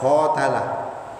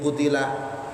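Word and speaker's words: قُتِلَ: Niki kalau tafsir Jalalain, niki bacanya putila. Kalau kita membaca qatalah. Ya, ini terkait ilmu qiraah. Nah, kita karena ngaji tafsir Jalalain nih, kita ngikuti ini. Ya, wa ka'ayyim min nabiyyin qutila, dan betapa banyak nabi yang dibunuh atau diperangi.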